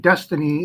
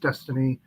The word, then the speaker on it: DXYZ: So you can see in DXYZ, Destiny, they say it's pronounced Destiny, DXYZ.